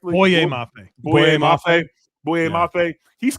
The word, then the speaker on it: Boye Mafe: And also, how do you Go ahead and pronounce it for me, Jeremy. Uh Mafe, is that correctly? Boye Mafe.